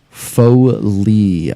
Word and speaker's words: Foley: It's pronounced Foley. I see. Like Foley.